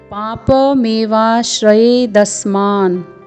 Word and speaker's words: पापमेवाश्रयेदस्मान्: फिर अगली पंक्ति है पाप मेवा श्रयेदस्मान्, प में आ का स्वर है, फिर पूर्ण वर्ण प है, फिर म है जिसमें ए का स्वर है, फिर व है जिसमें आ का स्वर है, फिर है श्र, फिर य है जिसमें ए का स्वर, फिर द है, फिर अर्धदंत्य स है, फिर म है जिसमें आ का स्वर है, फिर अर्धवर्ण न है।